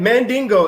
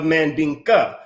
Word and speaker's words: Mandinka: we started right so the man mandingo is a mispronunciation of mandinka which is often that